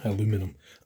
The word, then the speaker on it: aluminum: That's the way the Americans say it. Aluminum. Aluminium.